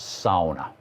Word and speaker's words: sauna: is the big thing it's pronounced SAA it's so warm in